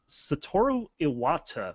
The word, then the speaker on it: Satoru Iwata: It looks like that Satoru Iwata, did I pronounce that right?